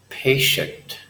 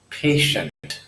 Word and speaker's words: patient: those pronunciations are ok patient patient it's not an S sound as it's indicated in slide it's like an SH sound patient patient and then